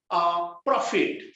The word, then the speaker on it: prophet: so please put down prophet PROPHET prophet मुझे fate पढ़ुनी feet पढ़ुची feet FIT पढ़ुची उच्चारण रे मु F लगेली but it is PHET prophet मु ग्लोसर को नेबी